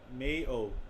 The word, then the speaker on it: Mayo: is from the irish that word pronunciation may oh much like the condiment okay at least i